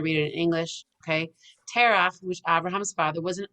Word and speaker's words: Terach: When Terach, that's how it's said in Hebrew, returned, he asked Abraham what happened to all the idols.